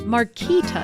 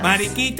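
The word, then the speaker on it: Mariquitas: Did you know that marquitas plantain chips say maritas? I'm sorry. I was told they were pronounced marquitas. Marikita are making right here in Miami.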